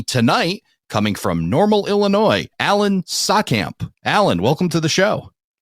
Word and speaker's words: Saatkamp: Joining me tonight, coming from Normal, Illinois, Alan Saatkamp. Alan, welcome to the show. Thanks for having me on. And did I pronounce your name right?